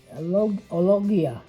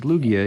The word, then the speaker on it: Lugia: that's a good one ologia it's lugia yeah yeah l-u-g-i-a lugia lugia yeah that's a rare